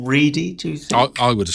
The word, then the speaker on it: Ready: can help me here i'm guessing the actor's name is pronounced his surname is ready rather than ready which is what it looks like paul reedy i would have said